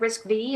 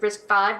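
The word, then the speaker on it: RISC-V: we've got things like risk v or risk five depending on how you pronounce it um and it's looking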